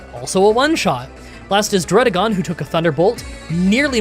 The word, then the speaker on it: Dragalge: I I just realized recently that this Pokémon is made of algae and so this is definitely pronounced Dragalge.